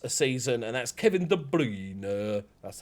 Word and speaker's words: De Bruyne: almost 10 assists a season and that's kevin de bruyne that's how you pronounce it um but bruno which is you